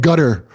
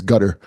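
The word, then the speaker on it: Qatar: I can't imagine C gutter that's how you pronounce it about by the way is gutter the nation of gutter is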